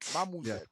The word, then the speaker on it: Mamuzet: 10 letters, 3 syllables.